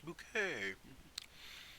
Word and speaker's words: Bucket: bucket so good yeah Mrs bucket yeah um it's bouquet Keeping Up Appearances are